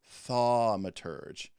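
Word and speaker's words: thaumaturge: idea um i say but apparently it is a long a so it is tha maturge it's still a very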